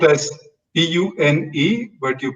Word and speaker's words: Pune: here can pronounce that it is spelled as p-u-n-e but you pronounce it as pune okay all right so